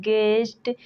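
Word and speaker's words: guest: word नहीं पढ़ते हैं वैसे ही गेस्ट गेस गिल्ट गिटार इन सारे वर्ड्स में जी के बाद यू है और यू के बाद कोई बबल्स आया है इन सारे वर्ड्स में यू साइलेंट है गाइस अगर वीडियो अच्छा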